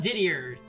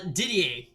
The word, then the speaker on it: Didier: How about Didier? Croy. I feel like I'm butchering the pronunciation of Didier.